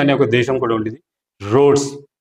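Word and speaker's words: Rhodes: రొడీషియా అనే ఒక దేశం కూడా ఉండేది, రోడ్స్. కాబట్టి హెచ్ వచ్చినప్పుడు ఆర్ అనేది ఒత్తి పలుకుతుంది, రోడ్స్ అంటారు.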